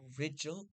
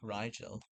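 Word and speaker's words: Rigel: Also don't call it rigidel because it's pronounced like riel distance from earth to sun 150 g.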